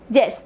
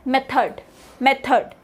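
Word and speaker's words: method: हो तू pronounce it tree प्रोनोसिंग इट मैथ this इस pronounce S मेथड सो डी इस given on light sound and D lining इस given in between which mains की उसकी जो साउंड है वो ऑलमोस्ट अन के बराबर होती है यानी की रिड्यूस होती है डी नेक्स्ट वैन इसे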